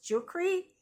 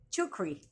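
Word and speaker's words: Czuchry: I think it's pronounce jukri. Tulisannya c z h r y. Chukri.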